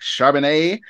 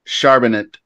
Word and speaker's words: Charbonnet: so uh kick off some Zach charbonnet I like to say it like that actually but I think it's sharp in it so anyway you can